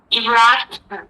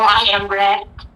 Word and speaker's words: IMRaD: Using the following what we call I M R small A and capital You can pronounce Imrad Imrad or I am rad.